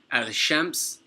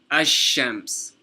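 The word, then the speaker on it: الشمس: sun letter and that you don't pronounce the lam, but rather you emphasize the sun letter. So instead of saying al-shams, you say ash-shams.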